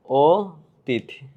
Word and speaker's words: অতীত: দেখো অতীত শব্দের এই অ ধ্বনিটা ও হয়ে যায়। যেমন অতীত শব্দটা হবে এরকম, অতীত, ঠিক আছে?